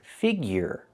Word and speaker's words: figure: The second word is figure. The ure is pronounced with the y-y plus the year.